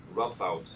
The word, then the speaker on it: Radboud: Okay, so this is some work by Victoria Paya, who's now in Radboud University in give me the right pronunciation. Radboud University. Say it again. Radboud.